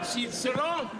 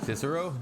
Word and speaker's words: Cicero: Cisero. Cicero. Correctly pronounced Cicero. We don't say Cicero.